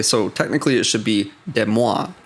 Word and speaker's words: Des Moines: It's like I could forgive, like, okay, so technically it should be Des Moines, right?